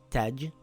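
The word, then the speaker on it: تَجْرِي: It reads tajri.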